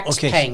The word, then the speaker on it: Xpeng: Xpeng. It looks like, I think it's pronounced Xpeng or something like that.